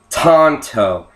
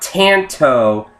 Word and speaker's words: Tanto: it is the Cold Steel GI Tonto now Tonto not Tanto Tonto people tend to call it a Tanto